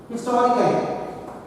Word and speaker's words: historical: Historical. See, it has got 3 syllables. Historical, 4 syllables. And stress is on the second syllable.